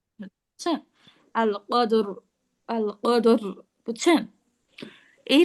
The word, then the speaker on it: القدر: অনেকটা এইরকম উচ্চারণ করবো, অটা বেশি হাইট করে উচ্চারণ করবো, বুঝছেন? আল কদর, আল কদর, বুঝছেন?